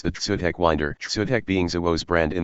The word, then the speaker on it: Wyndr: Wind like you're winding a toy. Wyndr, bruh.